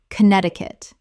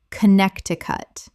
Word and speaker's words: Connecticut: Word 119 Connecticut Common mispronunciation Connect-ti-cut Correct pronunciation Connect-i-cut Four syllables, but the first C in Connect is silent in the full state name.